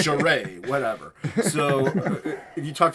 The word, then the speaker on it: Charest: I don't know how you pronounce it, but... I don't know either. Dude, I said Travis Charest for the longest time, so I mean, it's Charest, whatever.